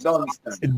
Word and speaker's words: Dunstan: Yeah, I pronounce it have an end, my boy, not Dustin, Dunstan. Dunstan.